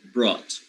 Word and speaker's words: brought: t at the end look at the gh you don't pronounce the gh you don't say broad okay so the gh is not pronounced so you just go for the t now you have the